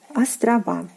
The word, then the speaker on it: острова: We are adding the A ending here, and we get острова. Острова. Острова. Island, islands. Остров, острова. Again, the A ending is stressed in the plural form.